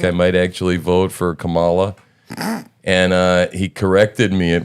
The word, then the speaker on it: Kamala: And he corrected me at one point and said, Kamala. You know that they actually, in the teleprompter speeches, it's leaked out that they put comma, like comma, la, so that people say it correctly.